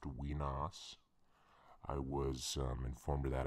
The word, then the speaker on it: Wenas: a grave error referring to our surroundings as Wenas. And it's actually pronounced Wenas.